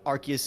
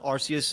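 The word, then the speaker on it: Arceus: used to be pronounced Arus in media but it's less inconsistent. It's more like it used to be Arus and they changed it to Archus because they realized it you know they were saying you know Ars.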